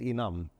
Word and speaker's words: Enam: which was NM on The initials of the founders got pronounced as enam but by and large